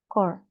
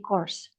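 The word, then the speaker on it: corps: juga diaural jugauanya ada tunggal dia bacanya segini aja core tapi kalau plural s-nya dibaca Jadi corse p-nya kenapa enggak dibaca enggak tahu dari sono because it's a French word ya jadi begitulah kalau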